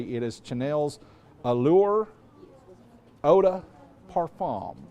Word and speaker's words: Parfum: Parfam. That's the way they say it over there across the pond. Parfum. Yeah. Parfon. And we couldn't over here in the States. We couldn't pronounce it. So, we had to go perfume, right?